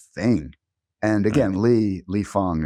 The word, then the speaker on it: Fang: And again, Lee, Lee Fong, it's F A N G. I think it's Fang, but it's pronounced Fong.